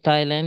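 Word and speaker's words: ptyalin: कहते हैं थाइलेन अच्छा इसमें टाइलन में यह पी साइलेंट होता है तो ऑप्शन सी हमारा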